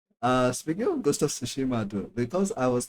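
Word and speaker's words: Tsushima: Uh speaking of ghost of sushima though because I was not able to pronounce or understand the names at first that much properly. I used to call it ghost of tsunami. I'm sorry.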